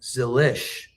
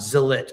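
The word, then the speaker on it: Zilisch: the story I'm doing, his dad pronounces their name Zilich, not Zilich. I feel like everybody in NASCAR is saying Zilich. Like I say Zilich.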